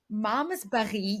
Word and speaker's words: Malmesbury: And it was just Malmesbury. absolutely Malmesbury.